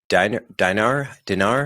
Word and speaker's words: dinar: It looks like relative to the dollar, the Tunisian dinar. Yep. How do you pronounce it?